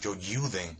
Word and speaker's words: Youjyuden: y nada, se llama Joe Juden, ¿vale? Eh, aunque en más me figura como como Joe Juden, realmente esa es la pronunciación, el nombre sería Joyen, ¿vale?